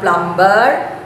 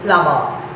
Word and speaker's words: plumber: and repair pipes plumber it is not plumber b is silent remember to say plumber three i deal with